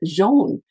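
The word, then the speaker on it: Johan: His name is spelled John, but he says it Jean.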